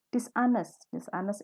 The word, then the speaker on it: dishonest: Dishonest itu artinya nggak jujur. Di sini kenapa dibaca dishonest? Hanya nggak boleh dibaca ya. Bacanya dishonest, bukan dishonest, tapi dishonest.